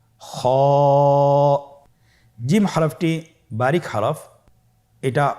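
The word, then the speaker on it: خا: খ হরফটির মাখরাজ হলো কন্ঠনালীর শেষ ভাগ হতে উচ্চারণ করতে হয়। কন্ঠনালীর শেষ ভাগ। আপনারা আমার সাথে বলুন খ আবার বলুন খ মাশআল্লাহ।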